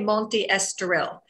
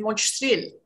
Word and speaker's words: Monte Estoril: And I used to say Monte Estoril. Yes. And then nobody knew where I lived. And I said, well, if I'm saying it wrong, how do I pronounce it? And they said Monte Estoril. Of course. So my S turned into an H very quickly when I first got here.